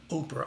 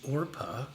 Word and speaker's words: Orpah: remember it was uh oprah oh i'm sorry it's orpah uh oprah's mom was wrong in calling her arpa but anyway it sounds